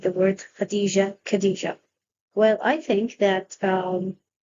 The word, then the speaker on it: Khadija: So if we have words like Khadija, it is written KH and pronounced Khadija.